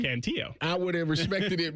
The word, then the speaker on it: Cantillo: That's Joey Cantillo. Oh, not no Canelo. It's Joey Cantillo.